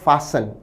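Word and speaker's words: fasten: पर विद्यार्थी ध्यान दें प्रोनंसिएशन है फसन इसमें टी साइलेंट रहेगा फसन का अर्थ है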